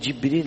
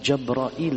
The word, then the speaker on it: Jibril: Même Jibril alayhi salatu wassalam, alors si on dit Jibril alayhi salatu wassalam, si on dit Jabrail alayhi salatu wassalam, il y a deux façons de prononcer l'ange qu'on dit en français Gabriel alayhi salam.